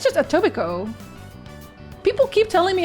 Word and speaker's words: Etobicoke: How to pronounce? I think it's just Etobicoke.